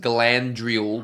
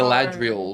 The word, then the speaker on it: Galadriel: I don't think it's meant to be pronounced Galandriel with an N. I know. Galadriel.